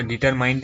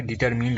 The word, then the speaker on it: determined: इसका डिटरमाइंड नहीं होता है, डिटरमिन्ड होता है।